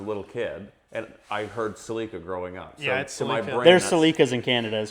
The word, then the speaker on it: Celica: Celica.